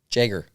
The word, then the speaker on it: Jagger: Jagger. Not Jaeger, like Jaeger bombs. Jagger. It's Jagger.